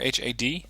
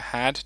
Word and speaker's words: HAD: Suspects here we got the tiger h a or the had depending on how you want to pronounce that this is the ground